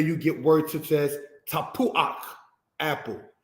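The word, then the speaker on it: tapuach: the patak first before you pronounce the ket. This is where you get words such as tapuak, apple, ruach, spirit, mafteak, key.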